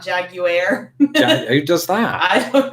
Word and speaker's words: Jaguar: I think I'd say Jaguar. I don't do much with that last vowel. Yeah. Yeah. And you would be Jaguar. Yeah, Jaguar. Yeah, that's right. So you do a lot with the last vowel, but you don't do much with that second to last vowel, or you turn it into a W. I suppose. Well, I think the emphasis is on the A, isn't it?